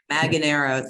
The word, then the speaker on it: Manganaro: I think it's Manganaro. You think it's what? I'm sorry, I was laughing. I think it's Manganaro, something like that. Manganaro, thank you.